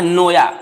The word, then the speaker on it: Naoya: Japanese है सिगा नोया, spelling NAOYA, जबकि NA silent होता है तो बोलना है नोया, NOYA, ये साइलेंट होता है।